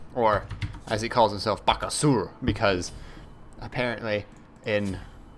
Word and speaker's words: Bakasura: as he calls himself baka sewer because apparently in like the correct neck yeah what the hell the correct pronunciation is vaca sewer you don't say the